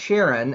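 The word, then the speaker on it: Charon: underworld of Pluto but it's pronounced Sharon after Charlene Charlene chy the um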